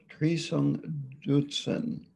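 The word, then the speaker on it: Trisong Detsen: is their um was a king called treesung dootson t-r-i-s-o-n-g d-e-u-t-s-e-n and he was a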